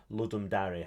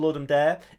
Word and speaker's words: Ludum Dare: It's Ludum Dare time, or Ludum Dare, however you want to pronounce it. It's Latin for make a game. This one is a very special Ludum Dare.